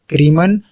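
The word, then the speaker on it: crimen: The word criminology consist of two words, क्रीमन and logos. यहाँ पे ये क्राइम ही नहीं है, ये क्रीमन है। समझ आ रही है, यहाँ पे कंफ्यूज नहीं होना और इसको गलत प्रोनाउंसिएशन नहीं करनी है।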